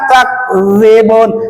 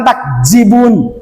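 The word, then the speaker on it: تكذبون: In antum illa takzibun. Jangan takjibun. Salah takzibun ya.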